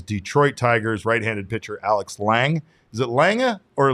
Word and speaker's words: Lange: One of those names is Detroit Tigers right-handed pitcher Alex Lange. Is it Lange or Lang? Just Lange. I believe it's just Lang.